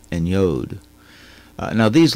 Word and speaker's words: yod: they're confused sometimes now the actual Hebrew pronunciations are what I use VAV and yod uh European influences made some academics later call them the wow and the jot but uh those are more europeanized and have been abandoned by modern Israel as they tried to go back to the original pronunciations of these letters but uh other spelling